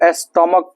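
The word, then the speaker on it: stomach: होता है जैसे देखो एस टी ओ एम ए सी एच इसको स्टमक पढ़ते हैं स्टमक स्टमक इसका अर्थ होता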